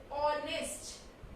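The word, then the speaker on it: honest: जैसे ऑनेस्ट है, तो ऑनेस्ट की स्पेलिंग स्टार्ट तो H से होती है, बट जो साउंड हम ले रहे हैं वो ऑनेस्ट, ओ साउंड है.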